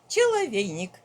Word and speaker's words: cheloveynik: He said that this cheloveynik. Well, it's a in rhyme with a Russian word for end hill.